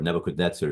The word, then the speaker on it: Nebuchadnezzar: Nebuchadnezzar is how we pronounce it.